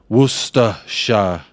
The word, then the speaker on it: Worcestershire: Ben's message loaded yaakov it's pronounced Worcestershire sauce Kate even sent